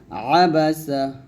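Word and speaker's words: عبس: আবাসা ওতাওলা দেখুন আইনের উচ্চারণ আপনি যখন উচ্চারণ করবেন আইনটি উচ্চারাপ দিবেন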